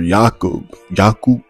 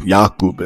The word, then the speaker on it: Jakub: Adam Sandler's character, Jakub, like Jacob, but he's Czech. So like Jakub, I think is how you like pronounce it.